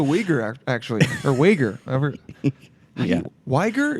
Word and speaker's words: Uyghur: Uyghur, is that how you say it? Uyghur. Uyghur. But it's spelled like U-H-Y-G-U-R. Yeah. But it's Uyghur.